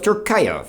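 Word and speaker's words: Türkiye: we're going to explore the mystical country of turkaya formerly pronounced turkey last year the Turkish government asked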